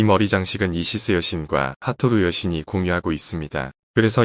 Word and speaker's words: 하토르: 이 정사각형 틀 안에 한쪽 끝에 머리 표시가 있고 가운데 매 형상이 있는 이 글자가 이집트 발음으로는 후투오르라고 하는 그런 이름이고 그게 하토르 여신의 이름입니다.